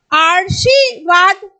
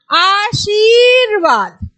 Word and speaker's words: आशीर्वाद: आशीर्वाद आशी वाद यहां पे भी बेटा यही चीज प्रॉब्लम होती है कि अगर हम यहां पे लगाएंगे तो इसका उच्चारण स्थान यहां पे आ जाएगा। आरशीवाद लेकिन अगर हम यहां पे लगाएंगे तो इसका उच्चारण स्थान यह रहेगा। तो क्या बोलेंगे? आशीर्वाद।